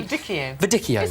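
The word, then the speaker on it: Viognier: how to say it I used to say viito viio but actually viio Vio Vio this one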